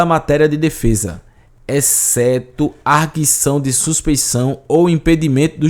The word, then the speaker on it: arguição: Esse termo aqui não existe mais, inclusive a pronúncia é arguição mesmo, viu?